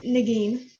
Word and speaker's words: Nagin: know how to pronounce whether it's Nagin or Negan or so please chime in and correct me. It's Nagin.